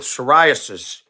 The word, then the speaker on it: psoriasis: Anything spelled with a P that you don't say the P is not good. P pneumonia, P psoriasis.